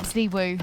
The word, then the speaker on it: ZywOo: not Zywoo, Yeah. Zwoo, whatever you want to call him. Yeah, you're a part of our trio. It's Ziwu, Frankie. That's an obligation. All right, I'll get it to 2. It's spelled the same.